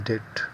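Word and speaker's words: debt: है उधार ओज का मतलब होता है इन डेट डेट डीई बी T hour it इ प्रोनाउंसड डेट उधार उसका 50 सेंटस उसके ऊपर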